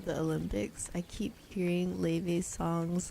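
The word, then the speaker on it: Laufey: It's pronounced Leve. She even pronounces it herself, Leve. Not Laffy.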